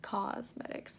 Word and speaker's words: Causemetics: And that's why they're Thrive Causemetics. Like not cosmetics, but like cause. Do you see? No, I can't show you. It's spelled Cause.